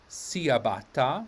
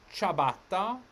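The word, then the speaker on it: ciabatta: back from south africa where chabatta is pronounced siabata much to our amusement or maybe dismay so we have chabatta the next one you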